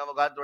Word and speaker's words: अवोगाड्रो: इसे ही कहा जाता था अवोगाड्रो नंबर, या आप कहें सही प्रोनाउंसिएशन में अवोगाड्रो नंबर।